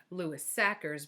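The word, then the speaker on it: Sachar: it up online, and it's Lewis Sacker, like cracker.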